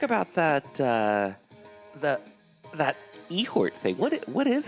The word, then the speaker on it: Eihort: let's uh we're talking about elder things in ihort or ehort this week whoa that's how that's how you say it in the ancient language of the roosters yeah thanks ralph okay so ehort it is uh let's see um let's let's